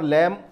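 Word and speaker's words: lamb: दोनों के बोलने में यहां पर लैम का उच्चारण किया, बी को छोड़ दिया, लेकिन यहां पर बॉम एम को उच्चारण किया और यहां पर बी को बाद में छोड़ दिया।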